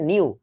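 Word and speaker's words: ν: নিউ নয় রশ্মি রস্যু নিউ উচ্চারণটা হচ্ছে নিউ মিউ না কিন্তু মিউ হচ্ছে এটা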